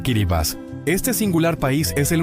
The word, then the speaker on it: Kiribati: Kiribati, capital Taragua Sur, pronunciado Kiribas.